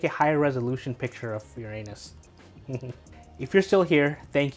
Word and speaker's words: Uranus: You'd think that a big brown noser like that wouldn't have objected to naming the planet Uranus. In 1782, Johann Bode proposed the name Uranus, pronounced Uranus, after the Greek god of the sky.